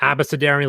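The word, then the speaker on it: abecedarian: i like abracadarian better abasidarian like a b c d but absolutely it's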